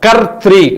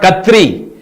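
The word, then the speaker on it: कर्तृ: The pronunciation is very important. Kartri, not Katri.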